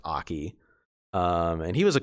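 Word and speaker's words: Ackey: but like i think it was spelled like a-c-k-e-y um but it was pronounced aki um and he was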